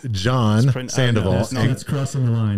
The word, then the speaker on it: Jean: John Sandoval. That's crossing the line. It's not pronounced. No. Yeah. John. Not.